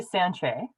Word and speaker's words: Sanche: of your last name how do you pronounce your last name i say sanchez sanchez right okay i